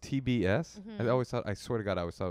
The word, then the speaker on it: TBS: the host of the upcoming tibbus is it pronounced tibbus it's called tbs oh it's pronounced tbs i always thought i swear to god i